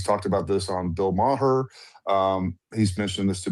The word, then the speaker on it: Maher: I I if I hear someone say Bill Marer, unless this how this he just thinks that's how it's pronounced. I don't know. It's very odd. Very odd. Because you know Bill Maher. Like how would you not know Bill Maher? It's Bill Maher.